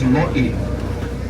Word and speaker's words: lo'i: Now these water beds in Hawaiian, we call these lo'i. Lo'i is spelled L-O''I.